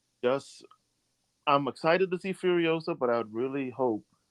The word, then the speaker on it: Furiosa: And then the last thing, the last trailer I would mention is the sequel to Mad Max Fury Road, and that's Furiosa. Am I pronouncing that correctly?